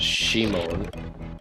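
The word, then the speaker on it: シモン: And that's a really clever pun, because Simon in Japanese is pronounced Shimon, and Shimon can be written as Gate of Death.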